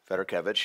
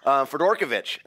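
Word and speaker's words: Fedorkevich: I actually mention Esther Federkevich, who is the founder of the Fed Agency. Yes. Up to that point, I had always mispronounced her name. I had always thought I thought it was Fedorkovich.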